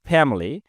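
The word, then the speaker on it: family: এখানে উচ্চারণটা ফ্যামিলি।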